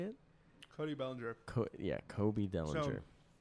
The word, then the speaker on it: Cody Bellinger: And I said I'm never gonna make him $11 million like Kobe Bellinger. How do you say it? Cody Bellinger.